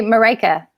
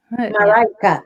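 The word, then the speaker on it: Mariche: How do you pronounce it? Marische? Yeah, I say Marika. Marika.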